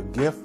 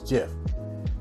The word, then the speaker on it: GIF: galaxy z flip 3 to show a gif or you may even pronounce it as jiff now before we continue